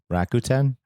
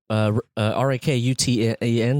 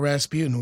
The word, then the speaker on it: Rakuten: Can you spell it? Rakuten. No, it's wrong. Rakuten. It's not Rasputin.